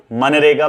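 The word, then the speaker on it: MGNREGA: तो budgetary policy are made for schemes like मनरेगा। बच्चों इसमें जी ना साइलेंट रहता है, हम जी साइलेंट रह के इसे मनरेगा पढ़ते हैं।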